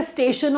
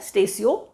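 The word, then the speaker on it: Statio: Latin word है स्टेशियो, दैट इज़ हाउ we pronounce it. कुछ लोग तो स्टेशो पढ़ लेते हैं, जो पढ़ना पढ़िए, कोई प्रॉब्लम नहीं है, प्रोनाउंसिएशन कोई चेक नहीं कर रहा आपका।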